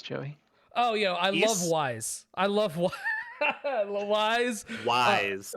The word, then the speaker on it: Ys: oh yeah I love wise I love one Wise Wise Wise talise the talise of series excellent series um isn't isn't it isn't the actual pronounced it's ease yes John was trying to